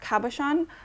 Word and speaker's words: cabochon: i think it's pronounced cabochon like cap on the side with the